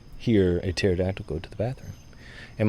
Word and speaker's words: pterodactyl: Okay, so why can you not hear a pterodactyl go to the bathroom? And my son will look at me like, why, Dad? Like, because the P is silent.